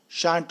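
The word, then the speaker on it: shan't: वाज नॉट, वाजंट, were not, weren't, शैल नॉट, शांट, इसका pronunciation शांट होता है।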